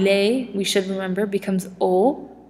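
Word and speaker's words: aux: A and le, we should remember, becomes o. It's pronounced o, same as here, o, even though there's an x at the end.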